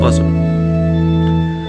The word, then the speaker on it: bosom: B O S O N buzzom. Just spell it.